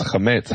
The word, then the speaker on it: chametz: First of all, chometz has the accent, the emphasis on the first syllable, whereas chametz has it on the second syllable.